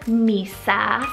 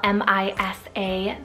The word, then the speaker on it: Misa: We have Misa, spelled M-I-S-A, Misa, another really sweet Japanese rooted name.